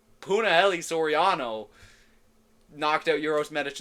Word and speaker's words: Punahele: I keep saying Punalei because of Dax on Sparring Sessions. He said it wrong once, and I've been ragging on him since. Punahele Soriano knocked out Uros Medic in the first round.